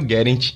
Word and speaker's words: Guerent: Meu nome é Guerent, se escreve gerente com T mudo.